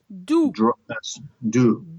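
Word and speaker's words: doux: Do. Do.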